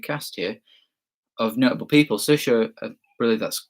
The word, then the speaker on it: Saoirse: Saoirse, really, that's how you pronounce her name.